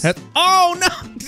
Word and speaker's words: Hesperornis: I think I said that right. Hesperornis. Hesperornis, as I said. I don't Hesperornis. Know. T-Bunny mispronounced it. I nailed it the first time.